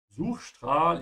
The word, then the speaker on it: Suchstrahl: And also here, just like before, when the S comes before a T or a P, it's a sh sound, yeah?